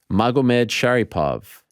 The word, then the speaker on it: Magomedsharipov: Magomedsharipov.